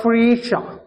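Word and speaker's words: Phryges: ഭാഗ്യചിഹ്നം ഭാഗ്യചിഹ്നം എന്താണ് ദ ഫ്രീഷ ഫ്രീഷ ഫ്രീഷ okay അപ്പൊ ഫ്രീഷ എന്നാണ് ഫ്രഞ്ച് ഭാഷയിൽ അതിന്റെ ഉച്ചാരണം വരുന്നത് അപ്പൊ ഫ്രീഷ അതാണ് അതിൻറെ ഭാഗ്യചിഹ്നം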